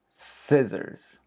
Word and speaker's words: scissors: Scissors. Scissors. Think of this word like sister, but take out the T. It will no longer be sister. It'll be scissor. Scissor.